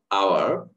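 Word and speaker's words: hour: আবার এইচ এর উচ্চারণ যদি হ না হয়ে অ, আ, এ হয়, তাহলে আমরা এ ব্যবহার না করে তখন এন ব্যবহার করব। যেমন honest, অনার্স, honourable, অনারেরি, আওয়ার, এয়ার, এখানে উচ্চারণ হবে এতটুকু, এইচ এর উচ্চারণ হবে না।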